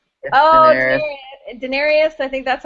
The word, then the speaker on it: Daenerys: It's Daenerys. Daenerys. Daenerys. I think that's how you say it. Yeah, she's Yeah, awesome. Daenerys.